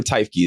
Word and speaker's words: Tyki: Did I Is it Teffki or Tyki? Did I say it right? Second one.